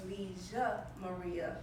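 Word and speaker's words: Villa María: So while we say the double L is yeah, in Argentina the double L is pronounced je. So it's Villa Maria.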